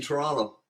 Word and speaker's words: Toronto: is see there's no there's only one tea in Toronto our shirt all different